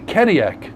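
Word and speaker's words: Cadillac: 뉴저지에 사는 내 가족들은 말이야 "이봐, 캐딜락은 언제 열꺼여?" (프랑스어 까디약이 영어로 캐딜락으로 발음 나기 때문에 하는 말장난입니다) "캐딜락 좀 열어, 몰아보자, 응?"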